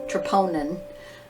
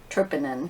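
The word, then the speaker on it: troponin: a fiber May contract and it's actually tronin but I call it triponin because I can spell it the structural proteins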